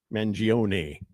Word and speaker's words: Mangione: Chuck Mangione? Mangione.